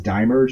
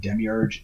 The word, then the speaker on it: Demiurge: depending on your pronouns i always pronounced it as die merge until i heard you know the pronunciation of demiurge and um over our